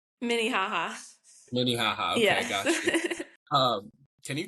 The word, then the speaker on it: Minnehaha: Am I pronouncing it right? Is it Minnehaha, right? Minnehaha. Minnehaha.